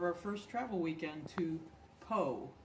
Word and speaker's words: Pau: first travel weekend to Pau. Some of you may think that's spelled P-O, but it is spelled P-A-U, and it's a small town.